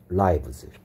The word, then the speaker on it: lives: 근데 이게 살다라는 동사에 does가 들어간 형태랑 생긴 게 똑같죠. 그래서 이런 식으로 하면 he leaves라고 읽어야 된다 했어. 동사일 때는 leaves라고 발음하고요. 그 다음에 life의 복수형일 때는 똑같이 스펠링은 똑같은데 lives라고 읽어야 된다 했습니다. lives. 그래서 얘 소리가 여기는 I고 여기에 소리는 E 소리죠. 그는 산다. He leaves. 생명들 lives. 발음 주의하셔야 됩니다.